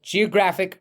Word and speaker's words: geographic: if I say so Geographic fragmentation again notice the difference between the pronunciation of geography Geographic just like photography photographic or photograph right so the the intonation changes the stress on the syllable changes Geographic fragmentation residential use